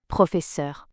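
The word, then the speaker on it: professeure: teacher that is female profor the pronunciation is exactly the same only the spelling changes this is something that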